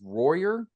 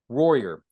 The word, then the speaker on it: Royer: So number one is according to South Dakota versus Opperman, 1976, Royer. I think it's Royer. I want to spell it Royer, but it's not quite like it's spelled, but it might be close.